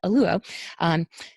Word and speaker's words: Oluo: I always say her name wrong. It is tough for my mouth, but Oluo.